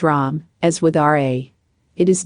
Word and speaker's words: Ram: writings is that of ram pronounced rom as with ra it